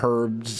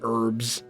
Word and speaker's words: herbs: There's a little kitchen back here with some meat roasting over the fire, some herbs, or herbs. I suppose the H is silent in herbs.